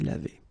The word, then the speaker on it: lavée: So, je me suis lavé, and then if it would be the feminine form, then you should add this e at the end, but then phonetically it doesn't exist, you don't pronounce it, so it would be exactly the same form phonetically, je me suis lavé.